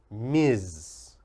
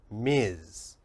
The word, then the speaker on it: Ms: is this one Ms the MS is pronounced Miz Miz and we only use